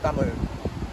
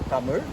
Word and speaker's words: Tamil: There is a Tamil, they call it, but it is the right pronunciation is Tamil. There's a sound on it. So Tamil.